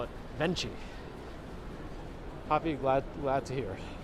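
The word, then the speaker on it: Venchi: spot for ice cream and other things not pronounced Veni as I once thought it's Veni it's Italian but it is Veni ven C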